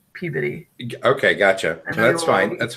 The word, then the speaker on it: Peabody: Only dummies that don't live there would call it Peabody. Yeah, it's not like Rocky and Bullwinkle. Okay. It's Peabody.